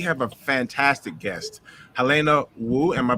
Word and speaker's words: Wu: cool and we have a fantastic guest Helena woo am I pronouncing that correctly yeah that's perfect yes how